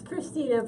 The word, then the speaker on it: Krisztina: So it's actually. It's Krisztina, but you can pronounce Z if you want.